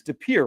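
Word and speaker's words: De Pere: So, is it It's Depier, right? It is Depir.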